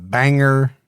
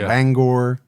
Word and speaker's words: Bangor: Banger instead of Bangor, which I still have a hard time saying it.